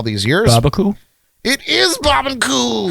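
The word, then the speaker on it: Barbancourt: a wonderful bar it's a Caribbean restaurant SL bar um it's family-owned and operated so like everybody that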